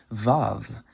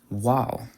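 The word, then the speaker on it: וָו: In modern Hebrew, they pronounce it as Vav. In chosen Hebrew, it's pronounced as Waw.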